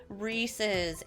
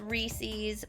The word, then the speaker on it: Reese's: Reese's in America everyone says Reese's but you really got a picture it like it's someone's name Reese and something that belongs to them I can guarantee you that is the appropriate way to pronounce it I have heard people say Reese's and it just doesn't make sense to my Canadian ears huge bulk area of